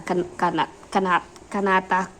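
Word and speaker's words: Kanata: Canata. It's kind of like katana. It's like the reverse of the legend T and the N.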